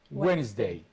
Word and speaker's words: Wednesday: like Sunday Monday Tuesday Wednesday you are going to choose Wednesday it has a silent d okay so you are